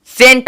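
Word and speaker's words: scent: के साथ देखते हैं एस सी ई एंड टी सेंट आया है अब देखेंगे यहां पे एस के बाद सी है तो सी का कोई भी साउंड होना नहीं चाहिए उच्चारण होना नहीं चाहिए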